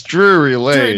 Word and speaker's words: Drury Lane: I don't know how to pronounce it. What? Drury Lane? Close enough. Drury Lane? It's Drury Lane.